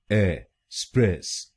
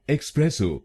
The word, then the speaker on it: espresso: ए स्प्रेस ओ। एस्प्रेसो। एस्प्रेसो। और ये ध्यान रखिए कि हमको दूसरे शब्दांश पर यानी SPRESS पर जोर डालना है। एस्प्रेसो। एस्प्रेसो। तो इसको एक्सप्रेसो नहीं बोलिए, इसको बोलिएगा एस्प्रेसो।